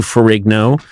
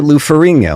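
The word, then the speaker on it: Ferrigno: Bill Bixby to Lou Farerigno. Uh, that's not what happened. Fourinho. The GN makes like a sound like No, everyone says that's not how they pronounce it. Who's they? I pronounce it Lou Ferinho.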